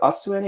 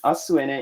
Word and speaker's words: Asuene: And Asuene, you can remember the name by breaking it down into two parts. Asu in Japanese means tomorrow, is also a Japanese pronunciation of earth, with ene being the short form of energy.